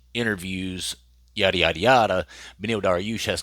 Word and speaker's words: Dariush: It's Dariush. It's not Darush.